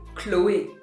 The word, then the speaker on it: Chloé: In French we say Chloé. So it's an A sound at the end. So here we know that it's going to be the A sound at the end because we have the accent aigu over the E.